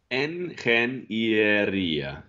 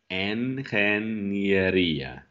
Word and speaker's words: ingeniería: Engineeria.